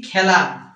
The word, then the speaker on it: খেলা: এখানে একার থাকা সত্ত্বেও এখানে একার থাকা সত্ত্বেও আমরা বলতেছি ব্যা মানে এ উচ্চারণ আসতেছে এখানে এ আছে কিন্তু আমরা বলতেছি মানে একটা খে আছে বলতেছি খ্যা মানে এ উচ্চারণ তোমরা শোন এই তিনটার